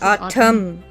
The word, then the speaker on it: Autumn: it if you notice everybody says oh dumb like i'm dumb it's autumn autumn and they don't even say it quickly together they say done like you're done oh you're yeah dumb